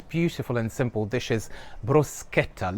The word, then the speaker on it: bruschetta: So the correct pronunciation for this beautiful and simple dish is bruschetta. Look at it as if the CH were to be written with a K.